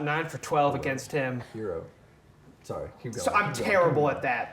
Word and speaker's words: Herro: in the fourth quarter they went after tyler herron shot nine for 12 against him hero sorry i'm terrible at that that's going to